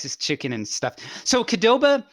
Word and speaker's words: Qdoba: chicken and stuff so kedoba maybe i'm pronouncing wrong i've always pronounced it kadoba but it's like it peop if you read it like it's spelled it's q doba qdoba is it's like